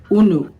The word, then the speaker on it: unu: that we use, and we pronounce it unu. This is the Igbo word una.